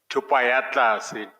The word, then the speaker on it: Thupaatlase: I'm avoiding mispronouncing it. Thupaatlase. Thupaatlase. Yes. Thank CJ. you. Thank you. Thupaatlase.